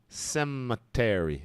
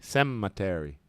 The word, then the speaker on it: cemetery: what you call that the stress is at the beginning Cemetery Cemetery Peter